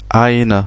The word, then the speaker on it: eine: eine Sonne, eine Frau, on a vu cette diphtongue E et I, ei, qui se prononce ei, donc eine Sonne, eine Frau, et ein Automobil, ein Kind, tout simplement.